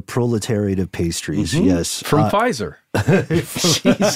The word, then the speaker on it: Pfizer: From Pfizer. Jesus, that also started with a P, and the P is silent.